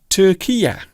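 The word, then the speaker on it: Türkiye: The country known as Turkey has changed its name to Turkiye, or Turkiye, because I believe that is the proper pronunciation of that particular country.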